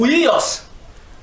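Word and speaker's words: υἱός: de fils de d'abord l'expression là en grec c'est ouos ouos bon ou ouios c'est-à-dire j'aip oui s'écrit h u i o s h u i o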